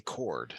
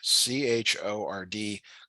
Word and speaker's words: chord: this is called a chord c-h-o-r-d chord it's it's pronounced like a power chord um but it has an H in it h is silent so a chord a